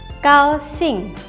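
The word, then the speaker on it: 高兴: Selanjutnya ada GAO. G dibaca seperti huruf K, jadinya kau. Selanjutnya ada XING. X dibaca seperti huruf S, jadinya sing. Kau sing.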